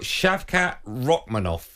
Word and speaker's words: Shavkat Rakhmonov: you are fighting a hope I'm going to pronounce his name correctly I've got shavkat ranov is your opponent shavat roov perfect pronunciation you